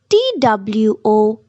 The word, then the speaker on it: two: n hour G part t w o 2 W is silent n two H part w h